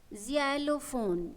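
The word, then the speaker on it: xylophone: में काम आता है इसको हम क्या बोलेंगे जलो फोन क्या बोलेंगे जलो फोन इसके स्पेलिंग को पढ़े एक्स बोलो बच्चों वाई एल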